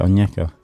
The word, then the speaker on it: Onyeka: It's spelled Onyeka. Onyeka. Onyeka. Yeah, Onyeka.